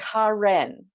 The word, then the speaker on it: Karen: Karen people now it it's spelled Karen but it's Karen yeah correct yeah okay so